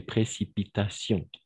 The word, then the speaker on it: précipitations: Les précipitations, d'accord? Comme situation, les précipitations. Donc, sion, passion, les précipitations.